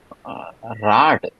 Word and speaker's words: Rad: Rad. Yeah, but not a duh. It's always pronounced with a T at the end, remember?